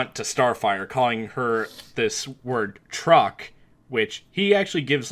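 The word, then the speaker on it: Troq: anyway she's got an episode called truck it's spelled t roq and basically it's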